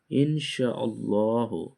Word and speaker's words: ইনশাআল্লাহ: যেটাকে একসঙ্গে বলা হয় ইনশাআল্লাহু। যেটাকে আমরা উচ্চারণ করার সময় বলি ইনশাআল্লাহ।